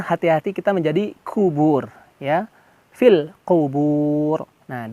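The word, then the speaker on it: قبور: Qubur, hati-hati kita menjadi kubur ya. Fil qubur. Nah, di endingnya roknya di sini roknya menjadi tafhim, tebal. Kubur, ro, kubur, jangan kubur. Nah, salah ya, keliru.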